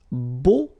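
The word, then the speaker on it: beaux: plural version and it's Bo okay so you put this x at the end but then you don't pronounce it so it's Bo all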